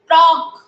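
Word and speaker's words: talk: मैं बोल रही हूँ, आप लिखेंगे इसमें टॉक। इसमें कौन सा वर्ड साइलेंस है? टॉक। लिखो एल, उसके आगे लिखो एल। एल वर्ड का उच्चारण नहीं आ रहा, that is a silent word.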